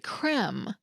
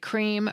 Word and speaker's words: crème: appearing in words like crème. In French, it signals an eh sound, like in bed. But English speakers tend to ignore this pronunciation guide completely. We often say it like cream, regardless of the spelling.